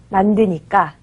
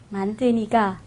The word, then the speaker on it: 만드니까: 싸다 사니까 만들다 만든이가 만드니까 만드니까 만드니까 만드니까 만드니가 오늘 된소리가 어렵네요 만들다는 만드니까라고 읽는게 맞습니다 그리고요이어서 살펴보면요 자음이 오는